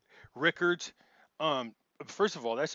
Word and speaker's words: Rickards: just because it's unusual it looks like richards but it's actually like rickards um first of all